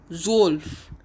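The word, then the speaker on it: zwölf: e l f is 11 in german and its pronunciation is elf elves z-w-o-l-f is 12 in german and its pronunciation is zolf zolf d-r-i-e-z-e-h-n is 13 in german and its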